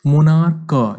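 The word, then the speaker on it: monarch: मोनार्क, यहाँ पे मोनार्क होता है, मोनार्क, जैसे हम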